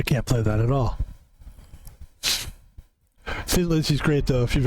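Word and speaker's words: Thin Lizzy: 70s, and the name of the band is Tin Lizzy, and it's my favorite band.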